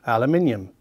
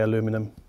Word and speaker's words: aluminium: And then beneath that, a separate bass driver, 6.5-inch, also aluminium. I know some of you Americans say aluminum. It's aluminium. Sorry.